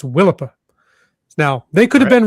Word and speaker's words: Willapa: Bay, and I was corrected and told it's Willipa Bay. Willipa? Yes. Some I've never heard of Willipa. First Nation heritage descendant said, "Nope, it's Willipa."